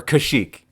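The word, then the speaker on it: Kashyyyk: the wook home world or kashik if you want to pronounce it properly oh look at those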